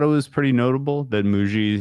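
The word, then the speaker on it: Mougey: I say moo. I say it like bougie. I say Muji like bougie.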